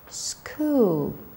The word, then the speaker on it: school: Anchor, ღუზა, school, სკოლა, character, პერსონაჟი, გმირი, choir, სასიმღერო გუნდი. So, CH we pronounce as K, school, anchor.